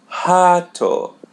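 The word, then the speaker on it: rato: So when it comes in the initial of the Portuguese word, we pronounce it as h. For example, the word hat which means rat hat. Hato, we pronounce the letter R as H.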